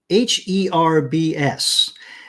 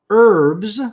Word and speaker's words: herbs: correct way to pronounce h-e-r-b-s i'm familiar with two pronunciations herbs with a silent h as well as herbs where the h is aspirated depending on where you